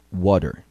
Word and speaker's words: water: É um D bem rapidinho. Escute novamente. Water.